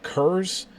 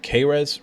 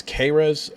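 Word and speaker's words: Kehres: It's going to be number 1, Vince Kurz, I think is how you say it, or Kres rather. Vince Kres, the Toledo defensive coordinator.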